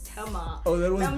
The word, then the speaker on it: Tema: Shout out to I Tema. mean, and I know Northside was like, can you pronounce Tema? And I used to say Tema before I said Tema.